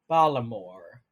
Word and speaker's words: Baltimore: baltimore no so baltimore the baltimore accent is exemplified in the way they don't say baltimore it's like balimore oh so they just